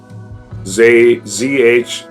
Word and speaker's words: Zhou: Z-H-O-U. Zhou. I think that's how it's pronounced.